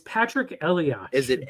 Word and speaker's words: Elias: You've mispronounced his name again. Oh, really? It says hepatitis C. It's Patrick Elias.